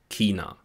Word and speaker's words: China: Vor allem im Süden Deutschlands spricht man hier aber ein K. Chemie und China.